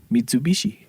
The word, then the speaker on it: Mitsubishi: Mitsubishi. Because they actually say it right. But Mitsu is 3, Bishi is diamond.